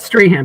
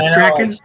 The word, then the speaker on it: Strahan: Not Strahan, but Strachan.